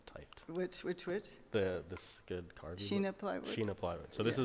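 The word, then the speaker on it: shina plywood: Sure, this one is, in that Shina, how do you pronounce it? I've only seen it typed. Which? This good carving. Sheena plywood?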